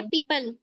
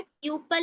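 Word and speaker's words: people: मतलब होता है खतरा ओ जो होता है ओ का साउंड साइलेंट हो जाता है ओ का साउंड आपको कहीं मिल रहा है प्यूपल नहीं बोल रहे हैं हम उसको झोपडी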